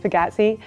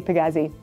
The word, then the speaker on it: Pagazzi: And if you want to get technical, yes, it is pronounced Pagazzi, but I'm very Glaswegian, so I say Pagazzi.